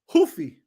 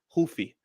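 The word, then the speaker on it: Ruffy: Because I know sometimes they change it, but I think it is Mauricio Hoofy. Because Henzo Gracie, Hoist Gracie. They don't pronounce the R's, but that's the first name.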